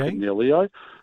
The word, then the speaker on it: Coniglio: Sorry, with the G pronunciation. Double G. Coniglio, every time.